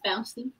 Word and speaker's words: Fauci: How do you say his name? Fauci? It's Fauci.